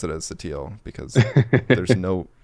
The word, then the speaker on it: Sottile: should be a c in there but i pronounce it as sateal because there's no it's a silency that would